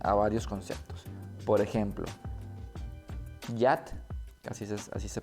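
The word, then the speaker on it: יד: Por ejemplo, yat, así se pronuncia, yat significa en hebreo mano, asa o mojón.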